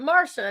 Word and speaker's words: Marcia: So I'm not used to My mom's like, "We're gonna spell it Marcia, but we're going to pronounce it Marsha and make everyone confused."